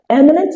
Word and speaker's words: eminent: It is important to take note that all those words has their stress on the very first syllable. Now eminent is used to describe